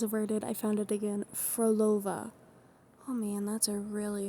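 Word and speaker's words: Phrolova: I always really struggle with characters names who who where their names start with PH cuz it's not pronounced like P. It's F. So Froolova.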